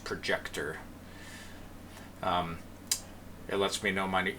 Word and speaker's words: ProjeQtOr: it is projet QT o r so it's pronounced projector it lets me know money user name here